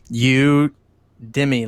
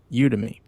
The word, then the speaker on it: Udemy: you did me yeah however you guys want to pronounce that word spelling you Dimmie like yeah but you udemy yes I brought some courses